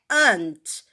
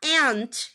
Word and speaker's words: aunt: To sound like aunt. Aunt. Então, às vezes eu tô dando aula de inglês para meus alunos, eles se confundem. Eles falam assim, ué, mas é aunt? Mas é assim que eu aprendi. Eu aprendi como aunt. Aí eu falo para eles, as duas formas estão corretas, porém, a maioria vai falar ant, que é essa parte